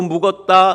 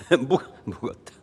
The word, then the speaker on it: 묶었다: 이 성경 복음서마다 사탄을 결박하고 묶었다, 묶었다. 쌍기역, 묶었다. 묶었다. 아, 맞아요. 묶었다. 발음을 잘못했네요.